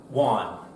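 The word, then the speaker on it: Whan: And so my last name, for those who don't know, is pronounced Juan.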